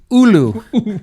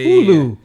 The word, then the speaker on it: Hulu: I don't think it's Hulu. I think it's Ulu. The H is silent, right? Isn't that what they say? No, man. Dude, you're Hawaiian, dude. You're Hawaii. Ulu. Oh, that's right.